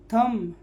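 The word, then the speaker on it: thumb: Silent है। थम, बी क्या है?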